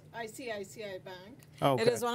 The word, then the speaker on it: ICICI: I'm going to let you pronounce the name. It's ICICI Bank.